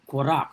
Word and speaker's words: Korach: matter of Datan and Korach, right? Korach, right? Is how it's pronounced, Korah, right?